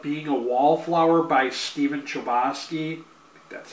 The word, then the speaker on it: Chbosky: The Perks of Being a Wallflower by Stephen Chbosky that's how you say his name um but